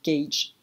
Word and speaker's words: gauge: Ça s'écrit gauge, mais ça se prononce gauge, l'un des pièges de l'anglais.